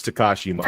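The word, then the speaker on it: Takashi Miike: No, it's it's Tekashi Mike.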